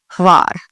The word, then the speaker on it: Hvar: You hardly hear the H, like Hvar. It kind of blends together almost. Instead of Hvar, you don't do the H and then Var. It's more Hvar. So together, if you can do it.